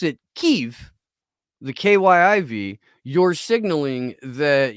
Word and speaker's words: Kyiv: If you say Kiev, which is the Russian, like, traditional, even Ukrainian pronunciation of it, then that's supposedly signifying that you align with Putin on this.